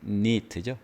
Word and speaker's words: knit: 이게 neat죠. K가 묵음입니다.